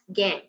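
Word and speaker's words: gangue: is G and gu it is uh pronounced as gang okay so these are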